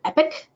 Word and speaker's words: EPC: the e-rate productivity center epic is the acronym for it it's the acronym is EPC but it's pronounced epic by them so this is where